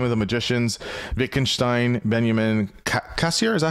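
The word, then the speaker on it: Cassirer: Yes, as you mentioned, the book is Time of the Magicians, Wittgenstein, Benjamin, Cassier, is that how you say it? Cassira.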